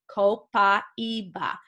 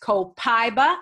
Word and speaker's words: copaiba: co pi e ba copaiba so either one is correct copaiba or copaiba if you're a Spanish speaker you add that extra symbol syllable in there if you're not then copaiba is just fine any other questions okay